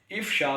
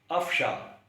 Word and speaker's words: افشا: ہے ظاہر کرنا۔ اس لفظ کو بھی عام طور پہ غلط تلفظ کے ساتھ ادا کیا جاتا ہے، اور افشا کے بجائے الف پر زبر کے ساتھ افشا پڑھ دیا جاتا ہے۔ ایسے ہی